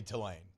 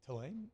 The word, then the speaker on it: Tulane: And was like, he just like, I love the way that you emphasize the first part of it. I'm like, that's how you say it. What does he say? Tulane? Yeah. Tulane?